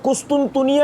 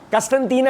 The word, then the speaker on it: قسطنطنیہ: نام ہے، کانسٹنٹائن نہیں، اور اردو میں اس کا یعنی کہ جو تلفظ ہے وہ قسطنطنیہ ہے، قسطنطینہ نہیں ہے، قسطنطنیہ.